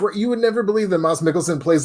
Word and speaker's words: Mads Mikkelsen: It was Mads Mikkelsen. My girlfriend corrected me once because I keep calling him Mads, and she goes, "It's actually pronounced Mads Mikkelsen," and I said, "No, it's not," and then I was way wrong.